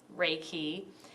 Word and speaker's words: Reiki: so what is raiki um talks about it's pronounced raiki it's made up of two Japanese words universal